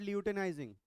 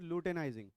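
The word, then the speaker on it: luteinizing: ठीक है, LH क्या होता है, LH स्पेलिंग, उसमें भी LU, ल्यूटेनाइजिंग, वो भी लूटेनाइजिंग है, इट इज नॉट ल्यूटेनाइजिंग, इट इज लूटेनाइजिंग, LU।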